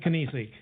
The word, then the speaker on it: Kinesic: That's how he told me to pronounce his name when I first met him. Okay. Like you were sneezing. Coffee with Kinesic.